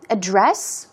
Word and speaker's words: address: But definitely when you say address, when the stress is put on the first syllable, we're talking about the location of a place.